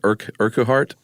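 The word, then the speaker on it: Urquhart: um organized project uh how do you pronounce that? Urkart. I was going withart. Oh wart. I like that. I do too. Silent H. Yeah. But also the qu Sure.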